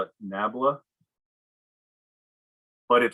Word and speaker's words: nabla: years and i've read it everywhere that it's pronounced uh that it's this upside down triangle they call it nabla but it sounds way too close to something